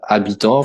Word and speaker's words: habitant: You want to say habitant, for example, inhabitants. You say habitant, but you don't pronounce the H.